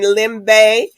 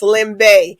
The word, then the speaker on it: Limbe: enrich Smart City in Lim Bay camon trust me people I had it's spelled l i MBE but you have to get used to the you be calling Austin but it's Lim Bay so we'll we'll get